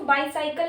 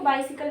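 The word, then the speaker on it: bicycle: बाइसिकल, इसको बाईसाइकिल नहीं पढ़ते, इसको बाइसिकल बोलते हैं, ठीक है।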